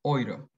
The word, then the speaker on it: Euro: Bueno, el diptongo eu se pronuncia como hoy. O sea, por ejemplo, vemos la palabra euro. Ellos la pronuncian oiro, Euro, o Europa, o Europa.